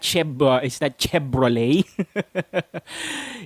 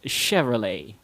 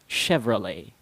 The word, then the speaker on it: Chevrolet: And this car brand is not pronounced with a B sound, as what most Filipinos do. They mix up their B's and their V's. It's not Chevrolet.